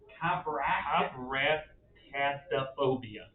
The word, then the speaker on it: coprastaphobia: It's COPRAST and then another AST and then an A phobia. So it's coprastaphobia.